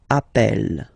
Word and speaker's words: appelle: You tend to pronounce it like really open. That's the reason why you pronounce it appel, okay?